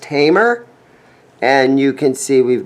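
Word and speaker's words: Hamer: for a long time some guys pronounce this Hammer but it's pronounced Tamer and you can see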